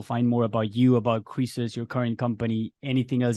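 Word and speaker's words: Kresus: um uh and so I simplified the spelling to just k-r-e-s-u-s like creases because that was phonetically right so crisis you know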